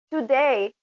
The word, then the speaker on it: today: vontade de fazer nada Lembrando que esse today não é two vejo sempre muitas pessoas né Falando today I'm going to Então a gente tem que pensar em um pouquinho de atenção nessa pronúncia que esse tu é igual quando a gente fala eu você no ela tão today Sabrina Você pode ler